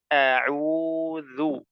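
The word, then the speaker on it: أعوذ: dan dalalnya ditipiskan semuanya jadi tidak boleh dibaca o auu tidak boleh yang betul a auu auzu kemudian perlu diperhatikan juga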